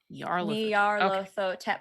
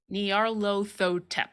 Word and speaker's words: Nyarlathotep: From what I've heard, how I've heard Troy pronounce it, it's Nyarlathotep. Nyarlathotep, 5 syllables. Nyarlathotep.